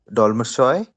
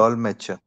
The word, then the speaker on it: Dolmetscher: Break it down. So you say doll, and then you have Yeah. Dol. me, and then you have stay as seha. How do you say stay as seha? Sha. Sha. So Cha. sure, right? So doll match, Dolmetschoi. doll matcher, doll matcher. Dolmetscher. Okay. Just Dolmetscher.